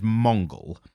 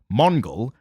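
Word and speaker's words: Mongul: might say something so his name is Mongol it's m-o-n-g-u-l yeah no it can only be pronounced that way unfortunately and to be careful so Mongol um he yeah was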